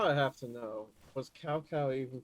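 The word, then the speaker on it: Cao Cao: Now I have to know was cowcow even pronounced properly in game dao. Oh, it wasn't. It's south a w. Ah, so it's not chow chow like the game made it sound like.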